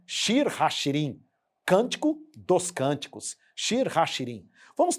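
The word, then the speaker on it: שיר השירים: mais fácil a leitura shir hashirim é assim que se pronuncia shir hashirim Cântico dos Cânticos hashirim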